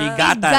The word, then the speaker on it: Piggatan: anumang uri ng sasakyan ang ano ang tamang pronunciation ah pigatan pigatan pigatan bridge sa may Alcala Cagayan daw